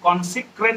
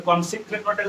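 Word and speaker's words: consecrate: আর তারপর ভার্বটা উডের পরে যেটা আমরা বললাম কনস্রেট বলে ওয়ার্ডটা কনসিক্রেট এবার কনসিক্রেটটাকে দূর সি ও এন সি ও এন এস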